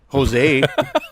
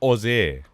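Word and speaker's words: José: that Jesus Christ yes in Spanish the J is silent technically not sudden it sounds like an H other words will be Jose Jose we got we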